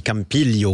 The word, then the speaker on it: Campiglio: Madonna di Campiglio. On prononce pas le G en italien quand on le dit comme ça.